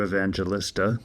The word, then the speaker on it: Evangelista: My name's Evangelista, that's the American pronunciation.